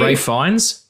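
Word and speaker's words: Ralph Fiennes: Like Ray Fines. It's spelled Ralph. Like, why are we calling him that?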